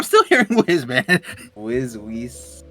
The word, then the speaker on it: Whis: name yeah I mean it's it's the same Z and an S they're totally different I'm not saying Ace yeah it is an S though w h i s I'm